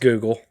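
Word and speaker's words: googol: intended name they wanted to use the word googal googal g o o g o l it's a number equal to one with 100 zeros pronounced Google okay well it does not look like Google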